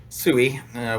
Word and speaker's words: SEWE: so tell us what is what is sooie sooie we pronounce it down here in the low on